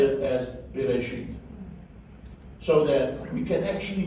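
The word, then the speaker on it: בראשית: Very quick you almost didn't hear the S sound, but we will say it as Bereshit, so that we can actually hear the S sound.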